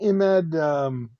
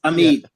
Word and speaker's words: Amid: Didn't Imed buy a channel box making machine? Who is that? Imed? Channel Did. letters. Amid did. Maybe I'm saying it wrong. Amid? Yes, Amid. Okay, I was saying Imed.